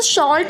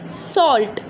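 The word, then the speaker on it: salt: सो शॉल्ट हम बोलते हैं ना, सो इट इज़ नॉट शॉल्ट, the pronunciation of शॉल्ट इज़ सॉल्ट, सॉल्ट, सॉल्ट, long सॉल्ट।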